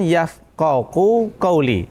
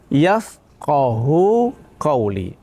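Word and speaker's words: يفقهوا قولي: uqdatam misisani yafqohu qli yafqohu quli jangan yafqohu Qui itu salah Jadi bacanya yafqohu quli yang artinya rbisrohli sodri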